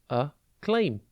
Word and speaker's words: acclaim: claim it is pronounced a claim and it is spelled a c c l a i m think a and then the word claim just with a double c a claim means to